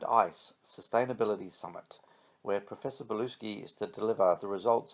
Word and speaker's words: Bluesky: It's not pronounced Blue Sky, it's Bluesky.